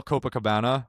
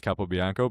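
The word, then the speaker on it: Capobianco: and then like Kyle Copa Cabana. I'm kidding. I know it's Cappo Biano, but it's kind of funny to pronounce it that way.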